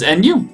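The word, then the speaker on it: ぬ: like this week outside new is nu nu it's pronounced almost the same way as we say new like a new car alright let's write this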